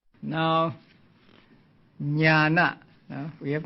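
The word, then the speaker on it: jñāna: Now, as I explained a few days ago, the dot beneath the letters mean that they are to be pronounced with the front of the tongue touching against the heart palate. They are called cerebrals.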